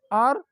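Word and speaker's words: hour: हम अगर इसको हावर प्रोनाउंस करें या होनर प्रोनाउंस करें तो this to pronunciation would be completely wrong, ये प्रोनाउंसिएशन हमारे पास गलत है। हम इसको आर या आनर जो है वो प्रोनाउंस करेंगे, इस दोनों वर्ड्स को।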